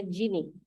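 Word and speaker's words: Geany: Jadi silahkan install Giani, Gini. Dibacanya Gini. Giani. Nah, yang punya MacBook ya, Gini. Silakan install Gini. Tulisannya Giani. Yang Windows Dev C++.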